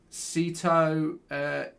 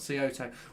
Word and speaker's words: Saito: I think you pronounce it Saito, as in Simon, not Saito.